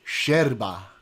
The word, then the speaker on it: yerba: You have to pronounce it sherba.